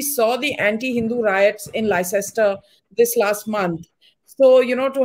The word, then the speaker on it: Leicester: But beyond that, I mean, it's pronounced Leicester, not Leicester. Okay, fine. Thank you so much. Leicester.